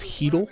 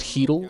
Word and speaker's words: Haedal: Now, this one I don't fully know how to pronounce the protocol, but I believe it's Hedel.